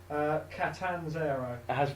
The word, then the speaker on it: Catanzaro: WWE officially announced today that how do you pronounce the name, Dan? Catanzaro.